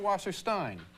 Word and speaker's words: Wasserstein: And then is it Wasserstein or Wasserstein? Wasserstein. Wasserstein. E-I in Zweig is Eig. E-I in Steen is...